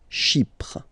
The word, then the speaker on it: Chypre: So remember, we've got this Y letter here, but then phonetically, when you pronounce it, it's like I, okay? Chypre.